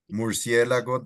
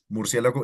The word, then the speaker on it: murciélago: So it wouldn't be like murciélago. No, murciélago. No o.